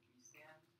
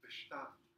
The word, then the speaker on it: Bestand: Like standing reserve, B stand. Not Bestand. In German, it's a German word, so it's Bestand.